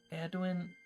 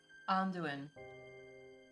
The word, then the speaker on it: Anduin: It's like the river Edwin from Lord of the Rings. Oh. Anduin. That's how you say it.